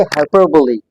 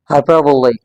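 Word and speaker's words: hyperbole: इसके हम लगाते हैं हाइपरबली इट्स नॉट हाइपरब remember हपबली हपरबली हाइपरबली ये हमारे पास एक जबरदस्त फिगर स्पीच है या लिटरेरी डिवाइस है जिसको पोएट्री में पोएट्स यूज़ करते हैं।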